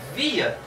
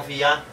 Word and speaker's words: via: Então, sempre a sílaba tônica das palavras com mais de uma sílaba é a penúltima, paroxítona.